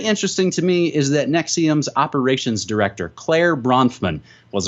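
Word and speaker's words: NXIVM: the alleged sex cult nexium in XIV M pronounced nexium in addition to the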